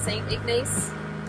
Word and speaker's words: St. Ignace: And so now we've headed off and we're headed towards St. Ignace.